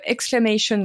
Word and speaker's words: Exclamation: es le fondateur de l'agence exclamation Group et je le prononce à l'anglaise surprise surprise parce qu'aujourd'hui